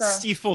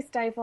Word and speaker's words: Stiefel: It's Stiefel, technically. I always say stifle. I'm sorry. It's my Canadian accent. You know, I would say like 95% of people pronounce it stifle.